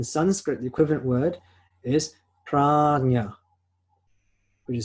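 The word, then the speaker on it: prajñā: In Sanskrit, the equivalent word is prajna, which is spelled P-R-A-J-N-A.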